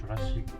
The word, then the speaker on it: Jurassic: In Korean, we call it Jura-gi (period) Park, but in English, it's "Jurassic" Park. So if you say "Jurassic Park" to Koreans with that exact pronunciation, they might not get it at first.